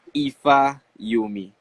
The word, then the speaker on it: Ifayomi: happened uh your name on instagram so you pronounce it for me so it's ifa you me that's your government's name that's my government name